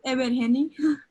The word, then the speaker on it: Ebergeni: We have, student board member from, I always forget how to pronounce, Ebergeni, I hope. It's Ebergeni. Ebergeni, okay.